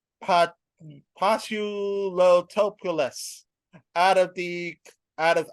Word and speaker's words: Paziotopoulos: Last name is Paziotopoulos.